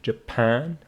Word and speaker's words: Japan: your pronunciation as well it is Japan with this stress on P Mexico South Korea please